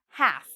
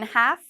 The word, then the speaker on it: half: Half. So again, half, no L because we have the A here.